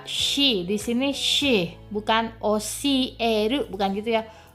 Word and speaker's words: oshieru: Oshieru, ada desahan sedikit ya, karena dia sh. Sh itu beda sh, sh gitu ya. Oshieru, bukan oshieru, bukan gitu pelafalan, tapi oshieru, ya, ada sh-nya sedikit. Ya, ada desahnya sedikit.